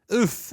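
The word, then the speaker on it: œuf: So maybe I have seen an egg like that, but Well, you've not seen in lots- oof. Is that how you say it? Oof. Oof.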